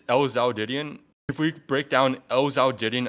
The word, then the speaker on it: lzhoudidion: So yes, it's lzhoudidion.